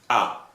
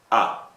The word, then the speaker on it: ha: Okay, if I ask you, you visited, you would say ah, and actually it's written with ha, with H-A, but it pronounced like ah.